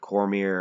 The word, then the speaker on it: Cormier: improved so much has Cormier and yes I pronounced it Cormier I was corrected in a comment section and